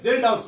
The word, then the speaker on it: Kjeldahl: Estimation of nitrogen by Zeldahl's method. KJELDAHL''S. K is silent.